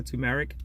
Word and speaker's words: turmeric: And everyone says I pronounce it a little funny. Turmeric, or turmeric.